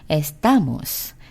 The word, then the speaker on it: estamos: 자, S로 끝났으니까 어때요? 자, S 앞에 있는 O, 그것이 첫 번째니까 이거는 S로 끝났으니까 뒤에서 두 번째면은 T 다음에 오는 A를 올려야 되겠죠? 즉, estamos, estamos. 이건 제가 그대로 맞게 읽었죠.